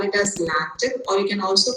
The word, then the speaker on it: LaTeX: i say lactic so remember the pronunciation x sounds as ch so that is why written over here it you can either call it as lactic or you can also